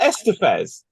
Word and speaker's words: Estevez: Is it not Estevez?